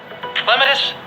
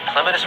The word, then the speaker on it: Clematis: Clematis, baby's breath, or amaryllis? Clematis or clematis, however you want to say it. You can stress whichever syllable you want to.